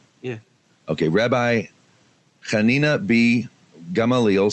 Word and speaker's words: Gamaliel: Hanina be Gamaliel gum allele is that right pronouncing it correctly yeah okay rabbi Hanina be gum allele said it also prohibits blood drawn from a